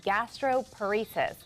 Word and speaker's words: gastroparesis: gastroparesis? Well, it's exactly how it sounds.